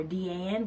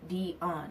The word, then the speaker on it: Dion: Most people either call me Dan or Deanne, which I absolutely loathe. So it is pronounced Dion, like Deion Sanders, Dionne Warwick, anything else dealing with Dion.